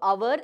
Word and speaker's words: hour: So hour, H is silent.